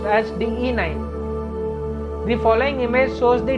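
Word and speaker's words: DE-9: oftenly if we google it will find us db9 which is wrong this thing we have explained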